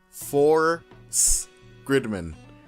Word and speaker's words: SSSS.Gridman: this one right here, is pronounced Force-Gridman. Force-Gridman. So that's how I'm going to be pronouncing it for the rest of the video.